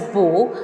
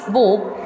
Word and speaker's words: Beau: This particular essay, Bottips, yes, its pronunciation is Bo, spelling is B-E-A-U, but its pronunciation is Bo.